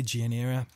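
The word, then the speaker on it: Gianera: Jim and parties ever do pronounce this set him wrong I think it's M Jeannie era it's G I a n we are a.cian era or gynie era and was a Jian era I say now to say Jane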